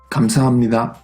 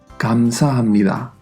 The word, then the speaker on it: 감사합니다: A veces se romanizará con una G o con una K, porque en realidad no es ni un sonido ni el otro. Sí que suena más como una K que como una G, pero aún así el sonido es intermedio.